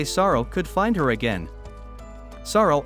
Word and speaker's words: Saroo: Saroo also learns that he has been mispronouncing his name his whole life, because his name is actually Saroo, which means lion.